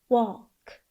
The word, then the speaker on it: walk: of a word is often silent. It has the effect of stretching the vowel before it. Old, old. Cold, mild. Oat, oat. Built, salt. Oaf, oaf. Golf, half. Oak, oak. Milk, walk.